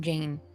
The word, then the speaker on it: Jane: What sounds are in the name Jane? J, A, N, right? Only 3 sounds. In English, the final E is not pronounced, it's silent.